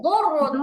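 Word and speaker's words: دُرٌّ: জুররুন হবে না, দুররুন। দাল মোটা করলে গদ হয়, ঠিক আছে? জাল মোটা করলে না, দাল মোটা করলে গদ হবে।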